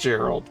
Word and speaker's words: Geralt: I know it's it's I know it's should be pronounced Gerald, but for some reason Geralt just sounds better.